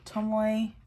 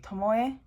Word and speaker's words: Tomoe: And in Japanese, because Tomoe is spelled with an E, the E in Japanese, it's a short E, as opposed to a long E, which you get like the E sound.